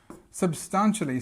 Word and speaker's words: substantially: So, substantially, so we've got this stress on the second syllable, but you see we've got our schwa in two places here.